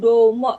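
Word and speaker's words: どうも: Di sini kan domo ya. Kalau kita bacanya domo gitu. Nah, kalau di mereka tuh domo kayak O-nya Domo.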